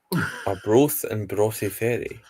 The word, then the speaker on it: Arbroath and Broughty Ferry: Arbroath and Broughty Ferry.